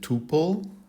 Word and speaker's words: tuple: So you hear some folks pronounce it tuple. So both pronunciations are perfectly fine, tuple or tuple, so whatever you prefer.